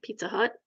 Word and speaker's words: Pizza Hut: Rhymes with nut. Pizza Hut.